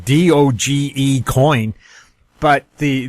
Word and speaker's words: Doge: cryptocurrency grabbing headlines is doge coin now that pronunciation d-o-g-e coin but the the inventor of it he says it's pronounced doge some people are calling